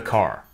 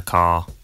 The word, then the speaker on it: car: And in car, the vowel sound is lengthened in place of the R sound.